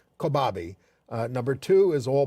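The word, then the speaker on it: Kobabe: uh Maya is how we say her name kabi uh number two is all boys aren't Blue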